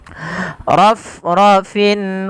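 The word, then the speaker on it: رَفْرَفٍ: fathah bertemu alif kecil rof rofin khudrin wa abqoriyin pada lafal rof rofin huruf fa tidak boleh ee apa bibir kita merapat sehingga nanti terdengar dengan bunyi huruf p misalnya ala rab ra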